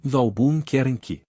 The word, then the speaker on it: Albuquerque: A maneira de aprender a pronunciar Albuquerque é quebrá-la em 3 pedaços menores, assim, Albuquerque.